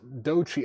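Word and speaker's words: Doechii: It's pronounced Dochi. Okay, cool. Sorry, Laura. I haven't heard people say her name, so I wasn't sure, but thank you. Dochi.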